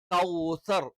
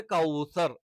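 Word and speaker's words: كوثر: പറഞ്ഞ് നമ്മൾ നിർത്തില്ല അപ്പോ സ്റ്റോപ്പ് ചെയ്യുന്ന സമയത്ത് നമ്മൾ എന്ത്ു പറയണം കൗസർ എന്ന് തന്നെ എന്ത് ചെയ്യണം പറയണം ഇപ്പോ ഇവിടെ ഞാൻ മലയാളത്തിൽ എഴുതിയത് അത് ഒരുപക്ഷേ തെറ്റായിരിക്കാം ർ എന്ന് പറയുന്നത് നമ്മൾ ഇങ്ങനെ ഇതിന്റെ ഉച്ചാരണം നമ്മൾ എന്ന് തന്നെയാണ് അല്ലേ അതേസമയത്ത് നമ്മൾ ഇ എന്ന് ഉച്ചരിക്കരുത് എന്ന് പറയുന്ന നിർത്തുന്നതുപോലെ കൗസർ എന്ന് പറഞ്ഞിട്ട് എന്ത് ചെയ്യണം നിർത്തണം അടുത്തത് ഫല്ലറബികി വന്നഹർ അപ്പോൊ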